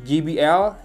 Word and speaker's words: JBL: Dan ini adalah JBL itu ya, sering salah ngomong. Kalau J itu di Inggris bacanya J, bukan G. Kalau J itu huruf G.